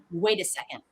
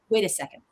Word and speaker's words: Wait a second: Wait a second. Feel it as one word with first syllable stress.